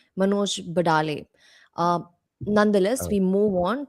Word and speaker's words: Manoj Badale: And just to correct a mispronunciation, Manoj Badale.